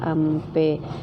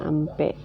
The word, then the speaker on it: ampe: Jadi meskipun tulisannya AP, tetap bacanya adalah ampe karena dalam tulisan lontara tidak ada tanda baca mati M. Jadi tetap tulisannya AP tapi bacanya ampe.